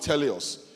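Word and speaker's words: τέλειος: The word for perfect in this verse is a Greek word pronounced teleos, which is actually interpreted as mature.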